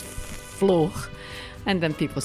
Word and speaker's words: flor: It's a different pronunciation for flower in Portuguese, which is flor. And then people say fro, people say flo, people say fulo, all very cute mispronunciations.